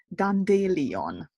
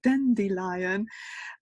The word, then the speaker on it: dandelion: and I thought that the correct way to pronounce it was Don de Leon oh that it was such a nice word